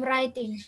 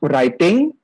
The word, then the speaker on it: writing: From writing. Good. So we pronounce it writing. We do not pronounce it with W. W sound. Wuh. No. Not writing, but writing. ETR2, English department, reading and writing laboratory.